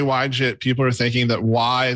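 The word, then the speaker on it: YJIT: except I accept it I'm literally just trying to pronounce the why in front of it why it's why pronounced why but then people are I'm scar what if when I say why jit people are thinking that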